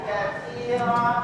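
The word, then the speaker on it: كثيرا: walhamdulillahi Kat Alhamdulillahi katir Nah di sini aki perhatikan huruf di sini bukan pakai Sin tapi makinya adalah hurf ta Perhatikan Kalau kair kalau kair itu artinya banyak tapi kalau untum berubah jadi Sin kasirah itu artinya pecah belah Jadi segala Iji bagi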